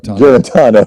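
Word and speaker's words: Guarantano: Garantano.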